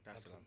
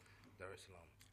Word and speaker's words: Dar es Salaam: Did I pronounce that right? Yeah. Dar es Salaam. Okay, cool. Dar es Salaam.